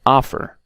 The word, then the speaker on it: offer: And offer, okay? Offer, okay? So these are some of the two-syllable nouns, adjectives, and verbs, and some of their exceptions.